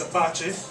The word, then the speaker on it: Apache: For the people out there, what does it mean, and how do you pronounce it? It's Apache.